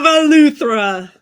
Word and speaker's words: Eleuthera: On the island of Eleuthera.